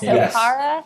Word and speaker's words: Okara: I think it's pronounced like Akara? Yes, Okara.